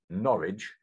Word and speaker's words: Norwich: it's any coincidence that the word norwich rhymes with the word porridge because that's what it's